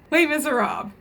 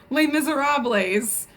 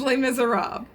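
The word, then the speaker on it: Les Misérables: Les Miserables. And yes, that is how you pronounce it, Kaz. It is not Les Miserables. It's Les Miserables. The S is silent.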